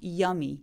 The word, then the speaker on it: yummy: 맨 마지막에 오는 y는 그냥 우리나라 말의 이처럼 yummy 하면서 그냥 끝내주시면 돼요. 강세가 없기 때문에 엄청 세게 발음하지 않습니다.